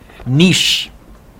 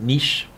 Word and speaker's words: niche: word is the word niche or niche i pronounce it niche this is the way